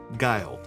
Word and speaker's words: Guild: are from Boston where their last name rhymes with child mild and wild so guile the book is known